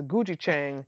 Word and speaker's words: gochujang: It sounds like you're saying C, but it's Gujichang.